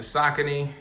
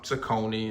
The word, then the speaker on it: Saucony: Today I'm going to give you guys a quick look at the Sakccin or Sakonei. It all depends on where you from and how you pronounce it.